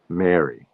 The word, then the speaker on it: Mary: from, which was Maryland, these three words are pronounced identically. They're all pronounced Mary, Mary, like Merry Christmas, Mary from Chicago, and um, will you marry? Will you marry me? Will you marry me? It'll be Mary.